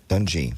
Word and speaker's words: Dungy: Dungy, sorry.